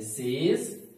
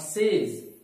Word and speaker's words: says: Says, but it's not says, it's says.